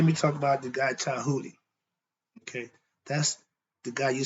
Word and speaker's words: Djehuty: So let's talk about Tahuti. It's spelled Djehuty. The D is silent, the T sound.